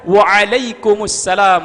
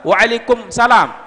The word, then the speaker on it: Wa'alaikumussalam: nakiroh tapi izin makrifah Assalamualaikum jawabannya juga banyak salah Waalaikumsalam salah kalau alaikumsalam berarti ayat dalamnya hilang